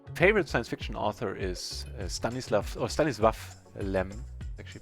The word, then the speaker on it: Stanisław Lem: My favorite science fiction author is Stanisław Lem, actually pronounced. Stanisław Lem.